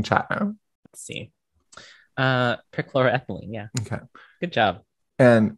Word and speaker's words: perchloroethylene: this stock ethylene I think is what it's pronounced um here that's there's a there's in chat room let's see uh perchloroethylene yeah okay good job and deca methyl cyclope